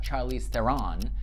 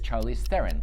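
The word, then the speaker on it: Charlize Theron: She like, "It's not Charlie Theren. It's not Charlie Theron. It's Charlie Theren."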